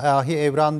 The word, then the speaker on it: Ahi Evran: Evren sıfatıdır lakabıdır ona Ahi Evran değil Ahi Evren midir evrağın Evren farklı şekillerde telaffuz ediliyor Evren olarak şimdi daha çok yaygın olmuş o yazılışları imla ile alakalı bulutsuz Evran ifadesi kullanılabilir diye düşünüyoruz biz bir hobi telaffuz meselesi